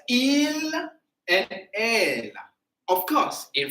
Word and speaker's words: ils: So il, but I don't read the S.